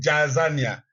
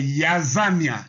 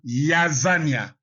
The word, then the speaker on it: Jazania: Bon, en lisant en français, on dit Jazania. Mais la lettre Y n'existant pas en hébreu, s'il vous plaît, c'est Yazania. Yazania.